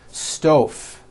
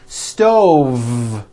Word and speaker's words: stove: word stove I cooked dinner on a hot stove was that correct no I should have said stove stove I cooked dinner on a hot stove